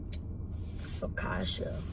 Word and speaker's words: Focaccia: Focaccia, which is You like said it right.